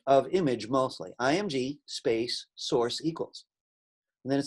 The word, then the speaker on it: src: so be very careful img source is uh how we pronounce src and it's very similar